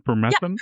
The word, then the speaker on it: permethrin: So the fact that you can use, can you pronounce the name one more time? Permethrin?